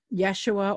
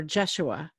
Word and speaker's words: Yeshua: And sometimes it's pronounced with a J and sometimes it's pronounced with a Y. Mm-hmm. Yeshua or Jeshua or Joshua, you know, and some Hebrew pronunciations use it as Joshua.